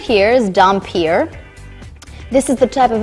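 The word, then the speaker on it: dhampir: do it correctly so this right here is dompier this is the type of vampire that I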